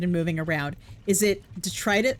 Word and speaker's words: detritus: Is it detritus? How do you pronounce?